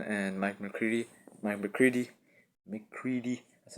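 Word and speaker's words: McCready: the band Stone and Mike mccre Mike mccre mccre that's how you say it um but yeah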